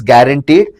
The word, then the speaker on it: guaranteed: So guaranteed although you pronounce it as guaranteed is a u which is silent.